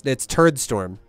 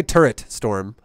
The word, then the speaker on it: Turdstorm: It's Turdstorm, like a poop storm. Turd, not turret. I can say turret storm.